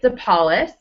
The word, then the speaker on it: DePaulis: and have the pleasure to bring you deis is that how you pronounce it yes okay I actually have never